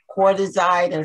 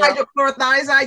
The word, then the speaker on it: hydrochlorothiazide: I'm on the hydrochlorothiazide. That's how you say it, the water pill. Hydrochlorothiazide, yes.